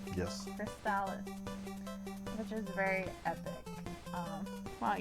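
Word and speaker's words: Crystalis: So in any case, number 10 is Crystallis. Is that how it's pronounced? Yes. Crystallis, which is very epic.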